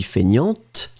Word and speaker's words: feignante: And feminine form would be feignante. Remember, so masculine you don't pronounce the T, and then feminine form you will pronounce it.